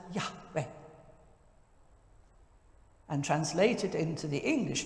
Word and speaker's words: Yahweh: the 20th century when the original yhwh was given two sort of happy syllables and spoken as yahweh and translated into the